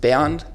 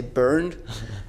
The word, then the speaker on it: Bernd: name is in germany my name is pronounced bernd but i always say burned and if i order a starbucks coffee here then i say i'm ben because then they don't mix that up yeah also